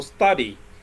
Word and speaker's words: study: For example, study. Study is a verb, right? But the stress is on the first syllable.